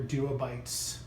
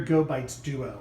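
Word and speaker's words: GoBites Duo: it's the human gear Duo byes or oh human gear go bites Duo I keep always mispronounce it wrong and then I just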